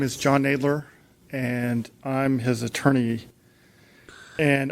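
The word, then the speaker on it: Knadler: your name again John nler so that's spelled knna a d and David L E R thank you uh I forgot to silent k that's okay go ahead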